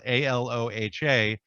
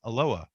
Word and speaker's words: Aloha: then there's a town just outside of Portland that's spelled a l o h a which you know most people who would see that especially if you're from Hawaii would say aloha but here they pronounce it aloa why I I have no idea why they